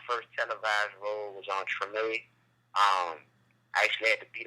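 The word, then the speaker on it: Tremé: Oh, Treme.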